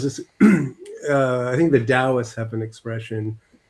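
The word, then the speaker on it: Daoist: There's this uh I think the Dowists have an expression. It's pronounced dowist, not toist.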